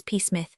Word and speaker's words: Psmith: Peace. The P is silent.